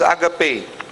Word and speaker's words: agape: So, it is pronounced as agape, no? From the Greek word, the feast of love.